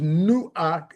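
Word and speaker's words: נֹחַ: Noah's name, pronounced correctly, is Nuach, and it means to rest.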